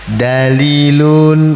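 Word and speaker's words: دليل: Dia baca dalilun ada ya-nya panjang pas itu, padahal bacanya gimana? Dalilun, nah cepet betul.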